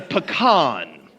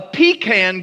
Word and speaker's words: pecan: Make certain you understand the proper pronunciation of that particular nut. It's a pecan. A pecan goes under your bed at night. A pecan goes on your dining room table. If you confuse the two, you'd be out of